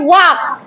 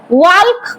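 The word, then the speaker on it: walk: তারপরে দেখো WAL কে ওয়াক। এখানে কিন্তু এল এর উচ্চারণটা সাইলেন্ট থাকে।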